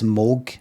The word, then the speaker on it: Moog: See anybody who says Moog instead of Moog, which is meant, it's how you're meant to say it, spelt Moog, pronounced Moog.